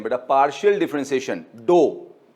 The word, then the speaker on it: ∂: Dough जैसे आटा नहीं प्रोनाउंस करते हम लोग, गुदा हुआ आटा, डो, तो प्रोनाउंसिएशन वैसे ही है, लिखने में वैसा नहीं है, प्रोनाउंसिएशन वैसे ही है, डो।